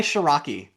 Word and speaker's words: Ciarrocchi: Please welcome Sharaki.